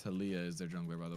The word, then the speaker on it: Taliyah: to jump clear it's taliyah is there jungler by the way oh so it kind of rhymes with olivia yeah that's kind of